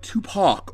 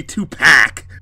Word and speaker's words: Tupac: it's pronounced yeah EXA it would be like Tupac or something like that it wouldn't be tup pack I thought you were